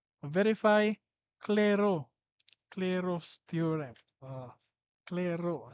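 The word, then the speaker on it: Clairaut: Claro, silent T daw ni.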